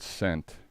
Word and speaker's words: scent: Do you think the word scent, the C or the S is silent? Uh, scent. It It would be the C would be silent, right?